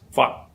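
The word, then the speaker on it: 發: And it is pronounced in Cantonese as fat. Fat. Again, it ends with an unvoiced t.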